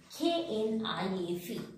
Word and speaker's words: knife: Now, the last one is silent K. See, when K is sitting just beginning of the word and after K, N is there. In that case, silent K is applicable.